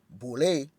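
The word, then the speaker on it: Boulé: Henry Milton and five other colleagues, the boule, an acronym for Sigma Pi Phi and pronounced boule, was formed to bring together a select group of educated black men and women fashioned after Yale's Skull and Bones.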